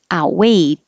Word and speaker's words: outweigh: a lot condemnation condemnation outweigh i'm not really pronouncing the t like outweighed or the d i put my tongue in the t position and hold it there so you do have